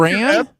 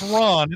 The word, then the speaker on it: Ran: But I think Ran? No, it's Ron. It's Akira Kurosawa's Ron. I see. Got it. Sorry. Yeah. It's pronounced. Yeah. Got it. Yeah, it is spelled Ran, but I believe it's pronounced Ron.